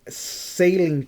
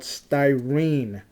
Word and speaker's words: styrene: modelers out there that I've been pronouncing sailing plastic. It's not sailing me like a dumbass. It's called styrene plastic.